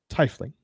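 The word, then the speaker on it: tiefling: my case i pronounce it correctly and google pronounces it incorrectly right like tifling exactly that's exactly how you say it i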